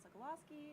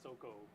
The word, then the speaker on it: Sokolowski: my name is sokolowski i am your panel host and i am joined by i think that's the first time i first pronounced my actual last name i was always like soco now you know now